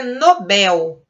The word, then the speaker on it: Nobel: O correto é Nobel. Nobel é uma palavra oxítona e não tem acento, porque é uma oxítona terminada em L, então não leva acento.